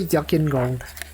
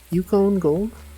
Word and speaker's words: Yukon Gold: How did they pronounce it? Yuckin? Did they say Yuckin Gold? Yukon? Yukon Gold?